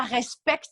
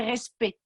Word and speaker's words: respect: y avait respect, et ça s'écrit avec un C. En français, on ne dit pas le C. Donc, ce n'est pas respect, mais c'est respect.